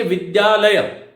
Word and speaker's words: विद्यालय: मेरे उच्चारण को सुनो, द्य। इसलिए हमें बोलना चाहिए विद्यालय, विद्या, विद्या, विद्या। लेकिन हम क्या बोलते हैं उसको, देखो लिखते क्या है, विद्यालय। हम बोलते क्या है, ये विद्यालय।